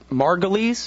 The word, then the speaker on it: Margolis: it again didn't I I've been pronouncing your last name wrong this whole time it's margulies it's margulies but you know everybody